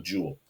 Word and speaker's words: joule: and moving a meter it's called a Joule I love the book and that one because it says rhymes with cool so Joule is something